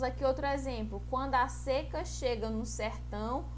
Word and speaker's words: seca: Quando a seca chega no sertão, o rio seca. É homógrafos, porque elas têm a mesma grafia, só que se pronuncia diferente, ó.